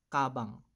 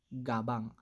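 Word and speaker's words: 가방: Nakita natin siya sa first syllable, kaya ang basa niyan ay kabang. Ka-bang. Hindi po siya gabang. Mali po.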